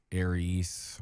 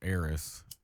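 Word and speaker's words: Ariss: all the time too it's aries or it's heiress but it's a-r-i-s-s so let me get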